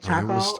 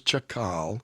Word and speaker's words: Chakal: Chakal? I was Chakal Chakal in the movie Book of in Life.